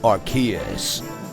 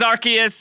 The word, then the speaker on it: Arceus: bunch of menus pokemon archaeas wow hey hey listen pronounce it prawns and wrong masters i know the official pronunciation is arceus it just sounds weird to me man into the latest